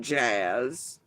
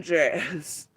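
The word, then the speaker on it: Jaze: And J A Z E does not in any real get pronounced as jazz.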